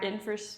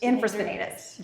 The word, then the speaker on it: infraspinatus: Infraspinatus. Infraspinatus. You got it. Good. 3 more. Beautiful. Infraspinatus and teres minor are the 2 muscles here that we're focusing on the rotator cuff.